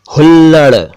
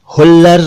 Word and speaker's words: हुल्लड़: और कुछ और शब्द देखिए, हुल्लड़, हुल्लर नहीं हुल्लड़।